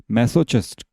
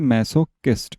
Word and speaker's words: masochist: तो चलिए, मैसोचिस्ट, sorry, क्या बोलते हैं इसे? मैसोकिस्ट। इसका प्रोनाउंसिएशन याद रखना, मैसोकिस्ट। अब चिस्ट बोलो, कुछ भी बोलो, हमारी मर्जी है, लेकिन एक्चुअल में इसका होता है मैसोकिस्ट।